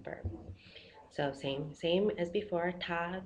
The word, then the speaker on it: 他: So in Chinese, him and her is pronounced the same. Ta.